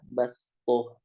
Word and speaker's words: بسطة: Jadi bacanya dia basto, basto, ya basto.